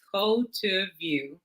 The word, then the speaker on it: Cultuvue: So Cultuvue, and that's how it's pronounced, Cultuvue, it actually is the combining of the words culture and view.